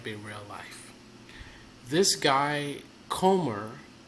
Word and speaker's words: Comer: This guy, Comer, name rhymes with Gomer, and he sounds like a Gomer.